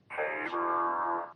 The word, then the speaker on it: Havre: This is a trip to Heaver, Montana. Haver, Montana, a great place to visit.